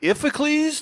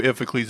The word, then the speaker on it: Iphicles: I don't know who Iphicles is, but apparently a brother of his. Sounds like a made-up word. It's one of Zeus's offspring. It might be pronounced differently. It's Iphicles. So, who knows?